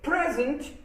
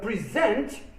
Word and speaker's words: present: with something again uh present as a noun means a gift whereas present is a verb meaning to give something to someone when a noun or adjective